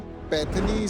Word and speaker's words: पैठनी: तो जो पैठनी साड़ी है, थोड़ा इसके बारे में मुझे समझाएंगे कि ये क्या होता है, क्या डिफरेंशिएशन है?